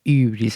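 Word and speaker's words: ὕβρις: Que en realidad se pronuncia como ibris, así como una entre I y U, que es el pecado griego principal.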